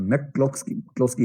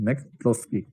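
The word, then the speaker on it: McCloskey: अंग्रेजी में मैक जो होता है ना, एमसी लिखते हैं, बीच में ए गायब कर देते हैं, ये उनका रिवाज है। कभी कभी होता है तो भी साइलेंट होता है, कभी कभी होता नहीं तभी बोल रहा होता है।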